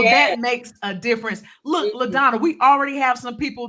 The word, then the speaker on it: LaDonna: hello Leticia thank you so much did I pronounce her name correctly Ladonna she did yes yes you did gotcha gotcha